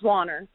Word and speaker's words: Wanner: How do we pronounce that? Wanner or Wanner? It's Wanner.